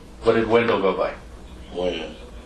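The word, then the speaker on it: Wynn: Win. Win? Or Wen? Win. When? W-E-N or W-I-N? W-Y-N-N. W-Y-N-N. Okay.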